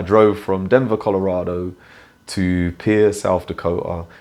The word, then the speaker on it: Pierre: I remember when I drove from Denver, Colorado to Pierre, South Dakota. It's spelt Pierre, but it's pronounced Pierre.